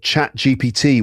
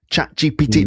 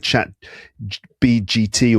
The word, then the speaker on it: ChatGPT: ChatGPT. Like, people can't say it. How many times have you heard people mispronouncing it and calling it Chat BGT or GBT or something?